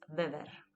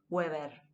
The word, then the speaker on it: Weber: Karl Marx y Max Weber, ¿sí? No es Durkheim, es Durkheim, ¿sí? No es Weber, es Weber, ¿sí?